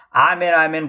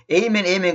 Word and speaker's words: 아멘: 아멘은 우리 개혁성경에 이제 아멘 그거 갖다가 이제 우리 개혁성경 보면 영어도 그랬습니다만은 베릴리 진실로 그 말이에요. 진실로 그 말이 헬라어로 아멘입니다. 영어권에서는 에이멘 그러잖아요. 에이멘은 그 틀린 발음이에요. 아멘이 정확한 발음이에요. 아멘이 정확한 발음이에요.